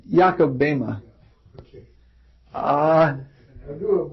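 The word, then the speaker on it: Böhme: Yeah, it's Jakob Bema.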